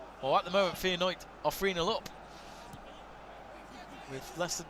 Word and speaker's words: Feyenoord: course but as you say it's what the dutch language would say and you've got to respect it like they're absolutely right so interesting that i did not know that i didn't know the d could be a t so faye and knight well at the moment